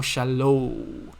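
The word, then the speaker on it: שלום: is you you have this o w sound so shallow this is shallow okay shallow and then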